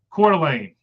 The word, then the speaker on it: Coeur d'Alene: The town in Idaho is pronounced Coeur d'Alene. So there we go. Coeur d'Alene. I'm going to try to remember that. So there you go. Coeur d'Alene, Idaho.